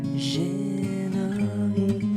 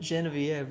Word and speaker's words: Genevieve: Someone commented, Genevieve rhymes with chicken Kiev.